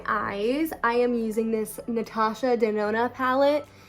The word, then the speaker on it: Natasha Denona: Okay, so for my eyes, I am using this Natasha Denona palette. It's like a joke that I never know how to say. Natasha Denona.